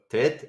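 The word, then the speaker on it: ט: Okay, Tet sound like T, Ta. Okay, so Bet, Kof, Reish, Boker, Tov, Tet, and then the full cholam we already see, and the Vet.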